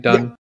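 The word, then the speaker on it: Dunne: uh Stars Griffin Dunn right that's how you pronounce his name Dunn mhm yeah gin done as Paul who as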